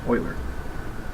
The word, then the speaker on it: Euler: It's not Euler, it's Euler. It's the pronunciation. Like that's how they pronounce his name.